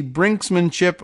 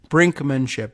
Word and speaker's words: brinkmanship: this year underscoring the brinksmanship I'm sorry brinkmanship there is no s in the after the K there it's that's the actual word and it's no one